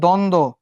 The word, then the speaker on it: দ্বন্দ্ব: দ্বন্দ্ব, তার মানে কোন যুক্ত ব্যঞ্জনের সঙ্গে ব ফলা বসলে ব ফলার উচ্চারণ হয় না, যেমন দ্বন্দ্ব। এই যে 5টা নিয়ম শেষ।